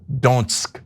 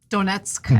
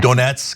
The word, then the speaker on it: Donetsk: Trump pushed back apparently on part of Donsk. I don't know how to pronounce it. Sorry. Okay. And so Donetsk. Donetsk.